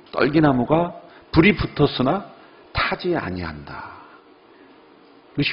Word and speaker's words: 떨기나무: 어떤 분은 이 떨기나무를 잘못 발음해서 딸기나무로 발음하시는 분이 있어요. 떨기나무입니다.